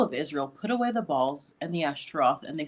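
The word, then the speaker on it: בַּעַל: refers to him as Baal, as sometimes people pronounce it, but in Hebrew you'd pronounce it Baal.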